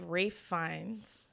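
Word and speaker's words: Ralph Fiennes: someone named alexandria and i just learned how to say this guy's name it's rafe finds who rafe rafe wait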